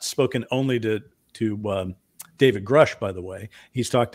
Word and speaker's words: Grusch: I do hear a lot of people calling him David Grusch. Grusch. And it's spelled G-R-U-S-C-H, not G-R-U-S-H. So now you know. David Grusch. Yeah. And it rhymes with Brush with a G.